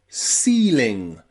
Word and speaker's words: ceiling: comes after a C, C and E and I, it's often pronounced E, like in ceiling, ceiling, or receive, receive, and also deceive, deceive. Okay, C, E and I, that E and I is often pronounced with the long E sound.